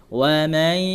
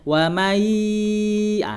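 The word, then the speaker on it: وَمَنْ: Wa man masuk ke pangkal hidung, harus bi gunnah dia. Kalau membacanya wa mai, tidak masuk ke hidung dia. Dia itu kurang tepat, ya, salah ya.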